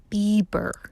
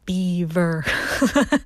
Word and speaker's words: Bieber: Bieber, not Bieber.